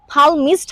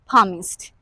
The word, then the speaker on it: palmist: এইখানে কিন্তু পালমিস্ট হবে না, লিমন স্যার কিন্তু Palmist. একটু ভুল করেছে, Palmist. এটা একটা সাইলেন্ট এল লেটার ওয়ার্ড, বলতে Yup. হবে পালমিস্ট। পামিস্ট।